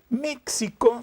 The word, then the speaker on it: México: yo siempre digo esto méxico se escribe con xy se pronuncia con jota es uno escribe méxico